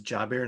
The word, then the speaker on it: Jabir: company name sure so so my name is jabir so it's j a b i r